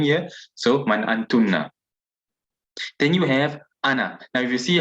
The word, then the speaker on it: ana: how i translate it i wrote it as anna not anna even though the it is i alive over here but the ali is never pronounced so i transliterated according to the pronunciation so that you can pronounce it correctly so anna i mean whether you're a man or a woman in both cases you'll say ana and then you've got